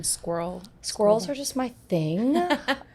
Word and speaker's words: SQRL: But my friend and I, one day, she was like, why don't you call them squirrel bars? I'm like, genius idea. Okay, cool. And we spell it SQRL just because it's shortened.